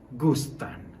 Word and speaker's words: gustan: must be using goostin attention to the pronunciation gusta goostin make emphasis on end sound take a look at